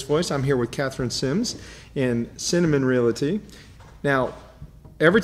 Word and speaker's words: Semmes: I'm here with Katherine Semmes. Semmes.